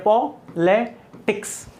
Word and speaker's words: politics: देखो यहां पर जो है वीक्स, देखो एक हो गया पॉलिटिक्स। अब आपको पता है ये भी वीक्स लेवल है, ये भी वीक्स लेवल है, तो स्ट्रेस कहां लगेगा, यहां पर, पॉलिटिक्स।